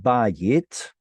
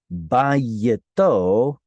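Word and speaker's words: בית: We all know the word bayit. Turns out bayit is a segolate. Think about it. It's a 2-syllable noun with penultimate stress.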